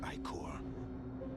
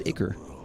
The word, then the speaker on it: ichor: And from this wicked ichor, the That's how it's pronounced. I always said it was Iker.